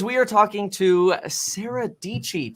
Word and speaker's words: Dietschy: are talking to sarah dc tech youtuber rhymes with peachy uh and we're going